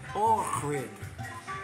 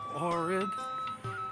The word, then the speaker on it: Ohrid: And there it is, Lake Ohrid, but that X has a H sound, so somebody can say it correctly.